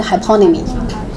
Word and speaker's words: hyponymy: So the stress in second syllable, synonymy, antonymy, and hyponymy.